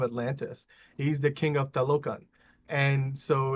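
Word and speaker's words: Talokan: Kalukan? Talocan. I think they pronounce so it's pronounced with like this a Spanish dialect.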